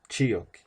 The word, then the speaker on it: Chiotl: Blanco moteado, Chiotl. La pronunciación es enfatizando en la I, Chiotl.